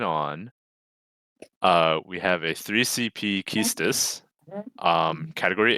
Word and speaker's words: Quistis: Is Keystis the right way to say this? Keystis? I don't know. I thought it was Quistis. I think it's Keystis.